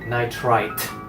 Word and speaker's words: nitrite: to be hydrogen nitrite be careful because you also have nitride would I de so you better pronounce it correctly nitrite and I am nitride is different the nitride is basically